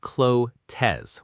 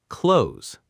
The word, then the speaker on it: clothes: Often pronounced clozz with two syllables. But in natural speech it's one syllable close like the word close as in close the door.